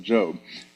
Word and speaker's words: Job: But uh we pronounce it Job.